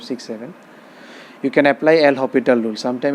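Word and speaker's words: L'Hospital: seven you can apply l hospital rule sometime it is say l hospital rule or hospital root this s is silent so this can be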